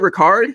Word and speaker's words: Ricard: kyle use check and uh patrick is it ricard is that your pronunciation that's what i thought okay cool patrick ricard as well big fan of the fullbacks over